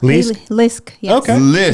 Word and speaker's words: Leisk: guys share a name how do you pronounce your last name again did I say right yeah Lisk yes I'll get all kinds